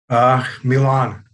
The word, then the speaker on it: Milan: Is it Milan or is it Milan? What's it going to be? Good morning. Good morning. Is it Milan or Milan? How do you pronounce it? Milan is good.